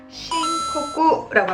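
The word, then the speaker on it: 申告: 아니면 무슨 접수하는 그런 신고하는 거를 뭐라고 한다? 신코쿠라고 합니다. 다시 한번 신코쿠라고요. 한 번 더 신코쿠라고 합니다.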